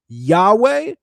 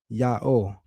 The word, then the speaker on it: Yahweh: Samaritan pronunciation traditions lean toward Yahweh or similar, not Yaho. Even the Samaritans are leaning towards Yahweh. No one's saying Yaho.